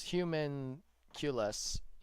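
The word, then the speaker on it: Homunculus: Okay, I'm being told that as Humunculus is how you would pronounce it.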